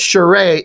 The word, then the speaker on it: Charest: Charest, but it looks like you'd pronounce it Charest or Charest. I've heard a lot of people say it differently. The only reason I know it's Charest is because Richard Friend, the inker, who worked with him on WildC.A.T.S.